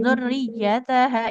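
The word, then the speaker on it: ذريتها: Nah, di kata ini zurriyataha ini ya-nya bertasdid. Jangan lupa untuk ditekan Ibu. Wa iya zurriyataha.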